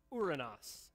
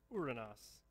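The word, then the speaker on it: οὐρανός: with me the word heaven in greek is pronounced uranus say it with me uranus which is not very fun to say the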